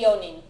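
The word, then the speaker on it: よん: so the yo it's always going to be yon okay for four people yeah Yon it's never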